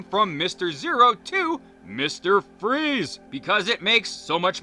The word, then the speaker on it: Fries: Also, we eventually learned that the character's real name is Victor Freeze, spelled F-R-I-E-S like fries, but it's pronounced Freeze.